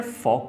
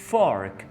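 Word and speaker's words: fork: Depend करता है, अगर आप अमेरिकन बोल रहे हैं तो आप इसको फॉर्क कहेंगे, फॉर्क, यानी आप आर प्रोनाउंस करेंगे। अगर आप ब्रिटिश बोल रहे हैं तो आप इसको फॉक, फॉक इस तरह करके बोलेंगे।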